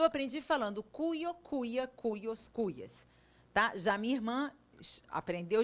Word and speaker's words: cuya: Cuyo, cuya, cujos, cujas. Parece cuia, né? Mas a pronúncia varia. Eu opto por falar cuyo, cuya, cujos, cujas. Tem outras pessoas que falam cujo, cuja, cujos, cujas.